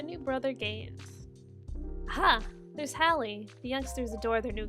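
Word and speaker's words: Halley: brother gains aha there's Halle the youngsters adore their new Guardian good dog best friend and boys typically pronouncing the name though sounds more like Harley when he says it 13 years later the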